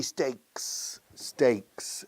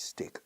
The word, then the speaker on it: steak: Por favor, no digáis stick. Lo he mencionado antes. Stick es un palo. Stick. Aquí se dice stick. Incluso en un restaurante, stick tartar. Se dice steak. Steak.